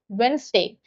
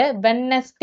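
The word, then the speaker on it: Wednesday: இன்னொரு example வென்ஸ்டே. வென்ஸ்டே அப்படின்னா என்ன? புதன் கிழமை. இத நெறைய பேரு வெட்னஸ்டே அப்படின்னு பிரிச்சு பிரிச்சு சொல்லுவாங்க. அப்படி சொல்லக்கூடாது.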